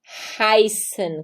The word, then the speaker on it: heißen: Toda vez que você vê o EI, você vai pronunciar AI. Então, sempre, não existem exceções, sempre. Então, você vê o EI, você vai falar ai. Então, temos aí o verbo heißen, que é o verbo chamar-se. E a gente tem AI, heißen.